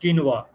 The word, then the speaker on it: quinoa: n-o-v-a no no no no quinoa it is pronounced quinoa q-u-i-n-o-a so it's a protein Rich thing and